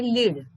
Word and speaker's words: lead: पण नेतृत्व करणे याचं उच्चार आहे लीड, पण नाव जे आहे मेटल, एका धातूचं जे नाव आहे त्याचं स्पेलिंग जरी सारखं असलं तरी त्याचा उच्चार काय आहे? लेड. LEAD, लीड, आणि LEAD लेड.